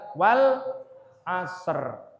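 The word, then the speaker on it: العصر: guru-guru ngaji di sini saya sering mendengar surah Al-Asr ini dibaca dengan tidak tepat. Coba ini di sini anak kecilnya mana ini? Saya tes dulu bacanya gimana. Bacanya biasanya dibaca begini. Nah, itu itu tidak pas bacanya. Yang tepat adalah wal asr.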